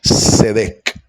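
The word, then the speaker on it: צדק: O con esta letra se escribe la expresión justicia en hebreo que se dice sedec.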